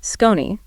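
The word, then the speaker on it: SKON: Yes, this discussion was also brought to you by Scon. That's S K O Ni, pronounced Scon.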